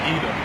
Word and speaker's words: Edom: Edom.